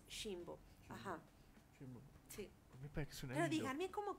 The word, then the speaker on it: Ximbo: Ajá, exactamente, ajá, pero bueno, pues sí, o sea, la pronunciación original, digamos, es Jimbo.